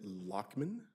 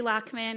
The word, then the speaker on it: Lochman: bringing up is is it lochman thank you very much I'm glad I pronounced that correctly thank you very much